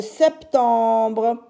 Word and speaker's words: septembre: au mois de septembre septembre S t comme 7 mais là on entend le P septembre T e m